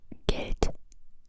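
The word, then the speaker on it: Geld: So, um, for example, the German word get means money, spelled with a D, but we pronounce it as a T, get, right?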